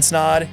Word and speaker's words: Snaadt: My name is Snaadt. It rhymes with odd, and you're listening to Rhymes with Odd.